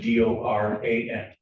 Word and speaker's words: Doran: spelling on the last name is D O R A N. And it's pronounced Doran.